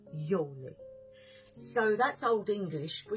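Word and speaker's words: Giuli: u l i and a lot of people say GUI or GUI but it's not it's Yi okay Yoli so that's old English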